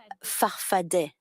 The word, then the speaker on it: farfadet: Your movement, you call it farfada with two A's at the end, but you pronounce it farfadet. Answer, depends on who pronounces it. I've always said I'm a farfadet. Answer, okay, I will follow your example, so I will say farfadet.